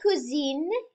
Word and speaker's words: cousine: Les cousines, et le cousin. So notice here, we have cousin, cousine, a slightly different pronunciation. We add an E onto the end when we're describing a female cousin, and that's how we